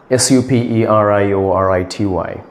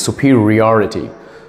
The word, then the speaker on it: superiority: pronunciation the correct pronunciation is claustrophobia it's claustrophobia pronounce this word correctly ladies s u p e r i o r i t y okay it is I the correct pronunciation is superiority superiority superiority can you pronounce this word correctly e